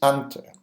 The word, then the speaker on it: Anter: After a few attempts, John and I decided to help him out and said his name is Anter, or you can just call him Cacciatore.